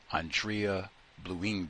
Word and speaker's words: Andrée Blouin: I think her name is Andrée Blouin because it's got the accent mark over the first E.